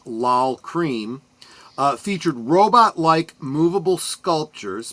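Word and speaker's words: Lol Creme: The music video for Rocket uh directed by the duo of Kevin Godley and I believe that's pronounced L Cream uh featured robotlike movable sculptures by Jim Whiting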